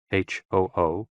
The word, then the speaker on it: hu: associated with the kidneys h-o-o pronounced like who which is associated with